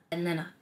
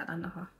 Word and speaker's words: Atlanta: Atlanta. I feel it's like Toronto. You don't even be pronouncing the T's.